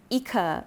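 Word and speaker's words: Icare: The the way that it's spelled is I c a r e like I care. But my sales associate at San Lauron said, so I don't know if that's how you pronounce it, but that's what he said, so that's what I'm going to say.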